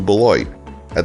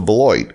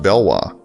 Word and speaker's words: Beloit: In 1838, the name was changed to Beloit, which at a glance, looks like it may be French, and pronounced bell-WAH. But the name was actually coined to be reminiscent of Detroit. Beloit has a population of 36,657 as of the 2020 census.